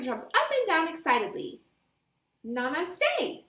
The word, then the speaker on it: namaste: How to pronounce namaste? Namaste. Namaste.